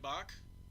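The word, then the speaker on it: Bach: my name pronounced right it's be a C H that was close well it's not like bock bock in this box what's so hard about that famous composer you would get box of the discord chat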